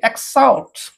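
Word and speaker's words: exhaust: काकुड़ी गर्किन तापर देखतु ई एक्स एच को silent करी एक्साउट ओके एक्सॉक्ट एंती भी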